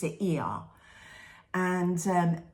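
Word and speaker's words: Oia: the cliff in it's spelled o i a Oya but you pronounce it e and um it's a steep cliff and the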